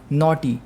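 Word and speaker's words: knotty: ठीक है next word नॉटी की एंड 228 यहां पर के साइलेंट है नॉटी मतलब होता है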